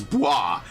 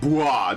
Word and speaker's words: Bois: Yeah, I actually asked native French speakers how to say it. It's Bois. I literally said, how do you pronounce this name? And they were like, Bois. B-W-A-H.